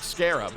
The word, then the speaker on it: Scarab: A car that rhymes with crab? Wondering which is next on our list? Then let's find out. The Stout Scarab is one of the coolest, most ahead-of-its-time cars you've probably never heard of.